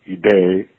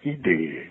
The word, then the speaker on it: idee: individuale ritiene di tendere vorrei aggiungere che la e di idee impone l'accento grave a tutti non a me soltanto invece noto che non c'è questo questa costante di dizione tutti dicono idee No no idee con l'accento grave non con l'accento acuto Non è una questione